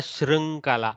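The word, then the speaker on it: शृङ्खला: is the southern accent the actual pronunciation is in between shri so dwara shrinkala shrinkala don't go shrunk don't go shrink try to go don't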